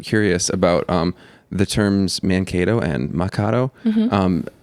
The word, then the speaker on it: Mankato: into mankato um but actually mankato is a dakota word it's ma kato and so you know